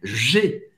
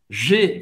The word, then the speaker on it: J'ai: J'ai. Presta atenção na pronúncia do J. J'ai. Você vai fazer tipo um sorriso. Um sorriso. Olha isso. J'ai.